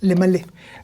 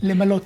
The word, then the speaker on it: למלא: למלא. למלא. Alors, il y a des Israéliens qui parlent aussi mal, et ils prononcent mal ce verbe. למלות. Ils disent les malotes, voilà.